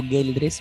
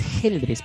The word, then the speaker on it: Geldres: escena muchas gracias curiosamente muchas personas me dicen algo girl dress pero en realidad la pronunciación es geldres porque no hay entre